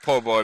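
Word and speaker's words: Poboigh: It's pronounced Po' Boy, but it's spelled different than the sandwich.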